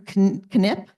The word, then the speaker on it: Knipp: Andrew Knipp. I learned that he pronounces the K.